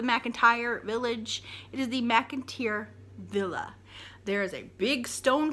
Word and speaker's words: McIntyre Villa: Last but not least, McIntyre Villa. A place I've been several times. And when people pronounce it wrong, it grates on my last nerves. It's not the McIntyre Mansion. It's not the McIntyre Village.